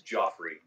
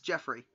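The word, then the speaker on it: Geoffrey: Joffrey GE Oh F his name is Joffrey yeah yeah well it's pronounced Jeff it's Jeffrey interesting spell velji awesome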